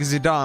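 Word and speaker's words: Zidane: It's kind of like It's pronounced like Zidon like in French from my understanding.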